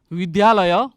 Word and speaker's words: विद्यालय: हामी साइकल द्वारा विद्यालय जान्छौँ। शुद्धपूर्वक उच्चारण गर्नुपर्छ है, विद्यालय, हामी विद्यालय भन्छौँ तर के हो, विद्यालय हो। विद्यालय भनेर हामीले उच्चारण गर्ने प्रयत्न गर्नुपर्छ।